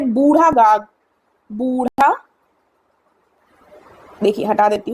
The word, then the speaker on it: बूढ़ा: इसको जब इंग्लिश में लिखेंगे तो इसकी स्पेलिंग BURHA आएगी, बूढ़ा। ठीक है, हिंदी में भी शायद बूढ़ा कर ही लिखा जाए, लेकिन तब भी आप अपने दिमाग में बूढ़ा शब्द रखिएगा।